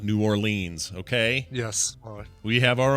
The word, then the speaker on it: New Orleans: Yeah, we had this discussion about New Orleans. It's New Orleans, not New Orleans, okay?